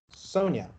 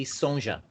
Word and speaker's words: Sonja: Sonia. Yeah. Right? That's Sonia. But if you ask every Brazilian, they will say Sonja, because the J has a sh sound.